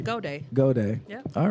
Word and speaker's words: Goudia: You didn't say my last name right, though. Did I? Say it for me. Goudia.